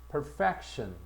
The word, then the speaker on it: perfection: E로 발음해라. perfect. 그래서 완벽한, 완전한. 근데 명사가 되면 perfection.